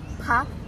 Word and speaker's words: พัก: if you say pak it means vegetable Ah. So how do you say it then? พัก Pack, พัก pack, พัก pack.